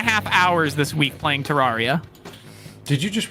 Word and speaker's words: Terraria: I know the proper pronunciation is Terraria, but I watch British YouTubers all the time, and they say Terraria, No. so it sticks in my head.